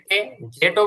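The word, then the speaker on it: z: এটা বলতে পারবেন আর সর্বশেষে জেটও বলতে পারবেন অথবা এটাকে আমেরিকানরা বলে থাকে জয় শিকারে জি এটাও বলে থাকে তো ব্লু কালারের তিনটা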